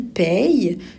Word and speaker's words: paye: Et il paye, je n'ai pas dit payer, payait. Donc, paye, c'est un E muet.